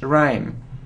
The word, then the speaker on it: rhyme: good So It Isn't So rim or it's Ryme Ryme so we don't pronounce h rhyme okay so surround genine